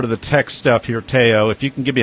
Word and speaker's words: Tayo: It's Tayo, not Tayo.